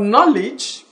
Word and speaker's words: knowledge: When you talk about knowledge, K is silent in knowledge.